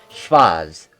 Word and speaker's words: Schwarz: So that W is a V, so it's a German pronunciation. Schwarz.